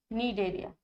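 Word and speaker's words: Cnidaria: इसमें सी साइलेंट होता है, इसे हम क्या पढ़ते हैं, नीडेरिया, ठीक है।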